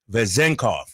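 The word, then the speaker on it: Vezenkov: to pronunce it and it's vezenov okay vezenov excuse me I'm sorry so it's V zenov like the K is not in the second syllable have you ever heard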